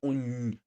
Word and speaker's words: unjani: So if you see double OH dash JAH, before J you would add N, so you'd have it on your throat like unjani. Then you have the correct pronunciation for the word.